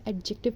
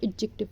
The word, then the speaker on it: adjective: इसको एडजेक्टिव कभी नहीं पढ़ते, इसको एडजेक्टिव पढ़ते हैं, जिसको हम उर्दू में कहते हैं इस्म सिफ्त.